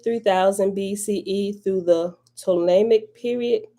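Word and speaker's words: Ptolemaic: text literature that c 3000 bce through the ptolemic period p t o l e m a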